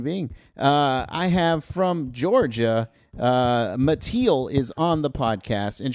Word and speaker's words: Mattiel: I was afraid of mispronouncing your name, so I'm glad you said it. Oh, yeah. It's Mattiel.